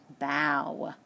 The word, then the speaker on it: bow: the owl sound so we're going to pronounce that word as bow ok like after you do a play you would bow to the audience ok so and we